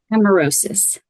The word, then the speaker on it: amaurosis: So the first one we're interested in hearing about your expertise is the Leber congenital, and then how do you pronounce the last word? Amaurosis.